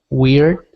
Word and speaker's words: weird: which means we are you don't want it to sound like Weir so it's weird weird okay good and um